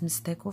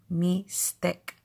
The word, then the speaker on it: Mixtec: mixed egg is pronounced me stick for us for from San Juan mixed up egg we don't pronounce it with the X sound mystic or me dick